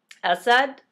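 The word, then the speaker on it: أسد: lion a lion so assad both of them have short a's assad has a short a at the beginning of the word and it's the alif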